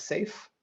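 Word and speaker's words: CAIF: Our mission, or rather the Cooperative AI Foundation, which we pronounce as SAFE for the acronym, is a charitable entity whose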